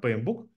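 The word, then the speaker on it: PMBOK: системы управления проектами есть P Book вот Неважно как оно пишется читается это P Book Project Management Body of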